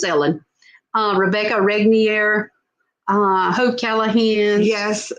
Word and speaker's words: Elin: It's spelled Elin. And for a long time, I thought it was Elin, but it turns out it's Ellen.